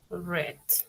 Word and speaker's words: read: el pasado de read se escribe lo mismo Solo que cambia la pronunciación en presente simple se dice read y en pasado se dice r sí red Okay Qué quiere decir